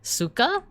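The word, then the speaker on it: сука: So C-Y-K-A is actually pronounced S-U-K-A. Like that. But that's like, the C-Y-K-A is actually how you like spell it in Cyrillic.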